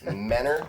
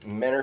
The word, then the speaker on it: Mentor: it's it's yeah it's it's Mentor Kentucky you don't say it with a t you spell it with a t so it is Mentor Kentucky that's moving on for